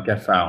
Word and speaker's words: cafard: Ah yeah, une blatte ou un cafard en fait. C'est le cafard. Yeah. Le cafard. Cafard. Yeah, you do not pronounce the D at the end.